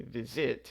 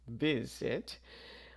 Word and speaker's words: visit: But if the last syllable is unstressed, so in the word visit, we stress the first syllable, we don't say visit, it's visit. We do not double the consonant, so visiting.